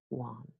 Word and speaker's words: Juan: and jelly here are two example words in which the J is completely new the first one is marijuana and the second one is the personal name Juan from Spanish okay marijuana and WOM okay that's it for